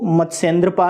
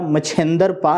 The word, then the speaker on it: मत्स्येंद्र: तो यदि ऐसा पूछा जाए कि अंतिम सिद्ध कौन, तो वो मत्स्येंद्रपा है या मच्छेंद्रपा है। तत्समय उच्चारण करेंगे तो मत्स्येंद्र कहेंगे, तद्भव उच्चारण करेंगे तो आप मच्छेंद्र कहेंगे, पा शब्द जोड़ के।